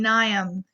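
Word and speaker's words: Mnium: is Politico and then nyam is the moss on the right the M is silent and so it kind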